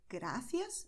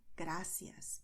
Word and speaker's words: gracias: You may want to pronounce, as I did, gracias, but you can also pronounce gracias. It is also correct.